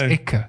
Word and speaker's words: icke: But for some reason, I thought in Berlin they would say ish with a shell sound, sh. But no, it's Icke. It's quite pointy.